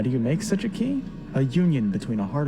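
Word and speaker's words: χ: The Greek letter for chi or kai. But we're not gonna pronounce it that way, are we clear? You think these writers don't know what they're doing? Xehanort says flat out that it could be pronounced differently. Key, the most ancient word. Some say kai, but the meaning is the same. But we're gonna pronounce it key.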